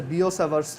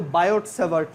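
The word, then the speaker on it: Biot–Savart: সো এটা হচ্ছে এরকম যে ধরো, মানে এটা একটা ল আর কি, লটার নাম হচ্ছে বিও-স্যাভার্টস ল। এটা কিন্তু বায়োট-স্যাভার্ট না, অনেকে বইতে বাংলা বইতে দেখবা বায়োট-স্যাভার্ট লেখা, বাট এটার উচ্চারণ হচ্ছে বিও-স্যাভার্টস ল।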